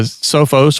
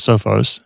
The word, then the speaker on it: Sophos: it, but um the Sophos or or Sopos uh Sopos is actually pronounced Sopos, but everybody including myself says Sophos, which uh if you